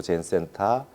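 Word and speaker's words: 禅: 그분이 스즈키 다이스가 와서 선이라고 하는 발음을 일본어로 젠이라고 하는데 젠이라고 하는 열풍을 일으켰지만 실질적으로 보편화한 거 미국 땅에 보편화하고 서구 유럽 사회의 젠이라고 하는 젠 스타일이라고 하는 것을 보편적으로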